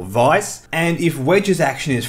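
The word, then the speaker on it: Weiss: the way thank you some of you guys informed me how that should be pronounced and I'm gonna stick with it so it's general vice and if wedges action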